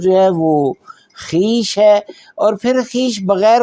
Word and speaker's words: خویش: ہمارے اردو میں لوگ اس کا جو ہے وہ تلفظ کئی دفعہ خویش کرتے ہیں، جبکہ یہ ایسا نہیں ہے. یہ ہے اول خیش بعد درویش.